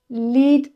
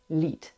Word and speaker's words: Lied: Lied, maybe you understood already, is song. So this is a bit of a false friend maybe for you English speakers because it's spelled like lied. But it's pronounced differently and it means something different.